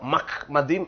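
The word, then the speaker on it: מחמדים: எப்படி என்று சொன்னால் இது மெம் மெம்க்கு கீழ பட்டாக இருக்கிறது. அடுத்தது என்ற உச்சரிப்பு தான் வரணும். இதுக்கு கீழ இது அரை மாத்திரை உண்டு. அடுத்தது திருப்பி மெம் பட்டாக இருக்கிறது. அடுத்தது இது டாலத். பாருங்க அதுக்கப்புறம் இந்த ஈ இம். அப்போ மஹ்மதீன் என்று தான் சொல்ல வேண்டும்.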